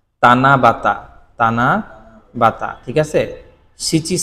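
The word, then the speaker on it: 七夕: তানার এখানে হচ্ছে সাতের কাঞ্জি হবে তখন এটার উচ্চারণ হয় তানাবাতা ঠিক আছে এছাড়া নরমালি ইউশকু ইভিনিং মেল এরপরে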